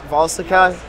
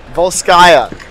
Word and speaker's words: Volskaya: Volstica Industries. Simon, is it Volstica? Volstica? Volskaya. Volskaya Industry.